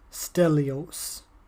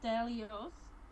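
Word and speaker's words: Dilios: instead of Stella stylus Stelios Stelios no it's Delia's yeah okay keep saying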